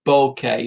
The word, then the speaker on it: bokeh: Well, with what they call the bokeh effect. Bokeh effect? No, nothing to do with a bunch of flowers. It's spelled B-O-K-E-H.